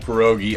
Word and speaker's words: pierogi: audience as well because I've been pronouncing it wrong my entire life I call these pierogies tell us the real way of saying it so you would say pierogi and the difference is